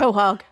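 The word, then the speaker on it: quahog: Quog. I don't know how you pronounce that. Kohhog.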